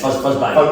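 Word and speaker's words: Fuzzbat: Fuzzback Gigs, Fuzzback Promotions, I don't know how to say it. It's Fuzzback.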